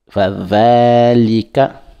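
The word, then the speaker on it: فذلك: Bidini, on passe avec le deuxième verset, ce qui commence par Fadhalika, toujours le Va, ça se prononce au bout de la langue et on tire. Fadhalika, encore, Fadhalika, encore, Fadhalika,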